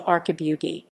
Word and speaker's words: Archibugi: francesca arcabugi francesca archibald the italian pronunciation francesca arcabu d zai born 16 may